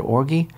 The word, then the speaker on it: orgy: than that orgy of, is that a hard G or a soft G? I never knew, because I don't have a lot of occasion to use the word orgy.